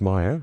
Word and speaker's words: Mayer: The pronunciation of Maya according to the company is like m i r e as it rhymes with fire.